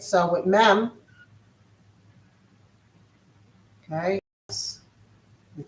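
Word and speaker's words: מ: Again, this is going to have that The base sound of mem is m. With an e vowel, it becomes me, as in method.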